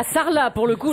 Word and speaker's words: Sarlat: Alors, à Sarlat, pour le coup, là, Sarlat, tu prononces pas le T.